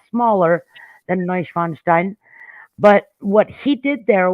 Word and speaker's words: Neuschwanstein: through there was a double page spread of neuschwanstein which is how you pronounce that famous white castle in germany that's